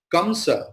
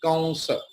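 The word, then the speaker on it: Kaṃsa: Now your question will be, why are you not saying Kamsa? Why are you pronouncing as Kansa? That is our learning, okay?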